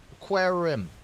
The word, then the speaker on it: Querim: Yeah, it's just Querim. I think it would be Querim.